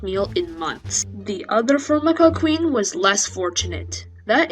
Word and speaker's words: Formica: regions by the way that's how you pronounce my name Formica fly around early August